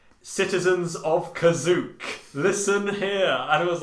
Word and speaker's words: Kashyyyk: that's just freaking unimaginable how weird but it's pronounced kazuk is spelt k-a-s h-y-y-y-k the three y's by